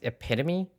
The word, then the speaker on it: epitome: Death Note is the epitome of detective fiction um it's pronounced epitome and actually Agatha Christie